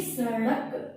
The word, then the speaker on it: सड़क: ये सड़क नहीं होता, सड़क नहीं है, ये सड़क। सड़क, अड़ ड़ का उच्चारण यहाँ पे आपको करना है। ठीक है, इसे ढ के साथ में लिखिएगा।